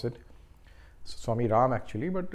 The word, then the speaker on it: Swami Rama: Then I will say Swami Rama or Swami Ram, how you want to pronounce it. Swami Ram actually, but it's written as Rama, so a lot of people say Swami Rama, but it is Swami Ram.